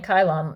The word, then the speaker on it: Kylon: god so kira and kylon that's his name kylon it rhymes it's one letter off from nylon uh they were gonna